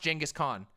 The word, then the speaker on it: Genghis Khan: go look it up it's genghis it's genghis khan it's pronounced genghis khan you you think yes